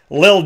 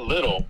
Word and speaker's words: Lil: And then Lil Jordan Humphrey. I don't know. Something about what is... Be careful. You got to pronounce that right. It's not little. It's Lil. Lil Jordan Humphrey.